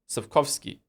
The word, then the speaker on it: Sapkowski: How do you pronounce it then? Sapkowski.